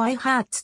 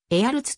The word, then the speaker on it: Eyharts: 飛行士である英語読みだとレオポルド i ハーツと発音フランス語読みではへあるつと発音 ir は 1957 年